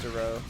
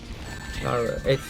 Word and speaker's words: Dara: So what are your interests, Daro? Dara. You're pronouncing it wrong. I'm Dara. Well, I Not Daro.